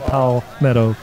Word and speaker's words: Palmetto: it's like a friend of pow the correct pronunciation is pal meadow you know some of the northern our northern